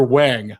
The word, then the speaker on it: Wong: to the American culture, he pronounces his own name Dr. Wang. I know that's not the actual Chinese pronunciation, but it is how it's spelled in American.